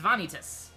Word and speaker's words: Vanitas: that's that's the difference it's an extra syllable instead of Ventus it's vanitas Bailey they're like literally added an e that's like they literally added an e in the middle of making us to make it three syllables that's the only difference